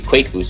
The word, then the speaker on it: qakboosters: It's supposed to be Quake Boosters.